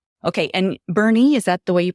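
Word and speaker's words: Boerne: And Bernie, is that the way you pronounced? So, it actually looks like born with me. It's B O E R N E and it's called Bernie.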